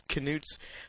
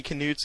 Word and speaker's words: Knuts: this class i know the scholastic site says it's knuts but when joe was reading haploid prince in edinburgh she pronoun she pronounced it as nuts no k um i meant to